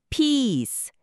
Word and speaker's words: peace: 우리말 2보다 입술을 양옆으로 좀 더 당기고 길게 소리내는게 포인트래요. 짧게 피스 이렇게 안 되게 조심해야 하고요. 한번 따라해 보세요. Peace. 길게요. peace.